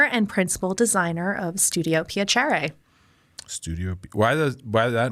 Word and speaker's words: Piacere: Italian like when you meet someone you say piachere and so my concept is I want to